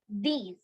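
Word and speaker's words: dix: Nerf Nerf yes and number 10 is is pronounced as these these yeah should I write it in Hindi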